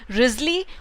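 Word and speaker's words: Wriothesley: Henry एक रयोथ्सलियो होने के लिए कर सकना, रियोथ्सले या रियोथस्ली कहेंगे नहीं, उच्चारण या तो राइज़ली या राइज़ली, हेनरी राइज़ली, अर्ल ऑफ़ साउथेम्प्टन।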